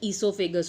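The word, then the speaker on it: oesophagus: वो ओ से स्टार्ट होता है बट उसका प्रोनाउंसिएशन ईसोफेगस होता है.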